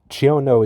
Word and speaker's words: chiono: referred to online is pronounced exactly how you would see it in English I may also be